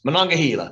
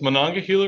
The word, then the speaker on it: Monongahela: my best here billy you're gonna try to pronounce this monongahela when i get that's pretty good all those years of high school announcing sports oh my goodness so um on this monongahela river lies a chemical facility storage tank farm